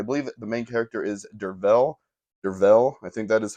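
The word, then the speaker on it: Derfel: Um, as I mentioned, it's the narrator is a man named Dervel. I believe that is how you say it, even though it's spelled with an F. I think that makes a V sound there.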